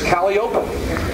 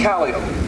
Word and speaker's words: calliope: Cole Brothers, in the late 1930s, needed a place for its calliope, its steam calliope, not calliope. Riverboat people called it a calliope. Calliope. Circus people called it a calliope, spelled the same way.